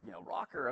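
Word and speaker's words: ROKR: And so he's like, rocker, okay, it's spelled like, R-O-K-R, that's cool spelling.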